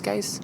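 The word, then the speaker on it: Guice: Darius Geis? Yeah, Darius Geis.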